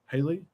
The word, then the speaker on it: Haley: days 657 days until Haley um Jolie gotcha yep and I are on island time um did I say that right Haley yeah pronounced like the actress I'm terrible with actors